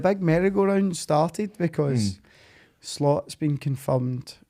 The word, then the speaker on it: Slot: Mero round started because slot's been confirmed is it schlot how do you say it AR slot I believe slot he's been confirmed for